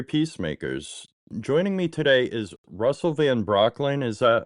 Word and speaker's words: Russell Van Brocklen: Joining me today is Russell Van Brocklin. Is that how you say it? Yes. Thank you for pronouncing it correctly.